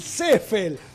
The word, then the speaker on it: Seefeld: Lo que pasa es que es alemán y la gente cree que es inglés, entonces con la doble E sería la I. Sería así, pero en realidad se pronuncia. La pronunciación alemana es Seffel.